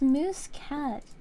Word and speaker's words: Muscat: I find it yeah it's moose cat hold on m u s c a t yeah this is spell it's spelled a little differently oops there we go